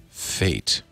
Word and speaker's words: F8: is pointing out that f8 really should be pronounced fate as in this is your fate meet your fate you can't do anything